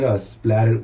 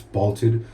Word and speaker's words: spalted: I said splatted wood by accident, but it's spalted wood.